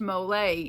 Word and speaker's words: mole: and uh and then I told her it's pronounced molay and it's a s it's a special sauce